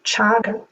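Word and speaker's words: cāga: And the Buddha used a different word for this the word chaga. So chaga is written c a g a but the word c the letter c in pari is pronounced as ch.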